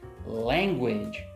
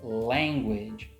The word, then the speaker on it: language: And finally, the first word from the beginning of this video, language, language, language. Two syllables. The final E is silent, and we have two vowel sounds with two consonant sounds in between.